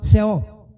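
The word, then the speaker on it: שאול: Então, no sheol, a palavra é sheol, em hebraico é sheol, pronúncia difícil, em português você fala seol. Estou adaptando então fonética, o certo é em hebraico mesmo, sheol, pois no sheol, para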